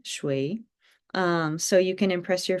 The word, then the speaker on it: 水: And I like this image because it helps you to remember the shape of this water droplet, and it's pronounced shui, shui.